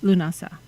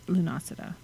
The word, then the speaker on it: Lughnasadh: so just random factoid lunasa not lunacida and then llamas um